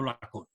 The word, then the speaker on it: Lacaune: a la española, pero su nombre de origen es lacaune, escrito en francés y pronunciado lacón.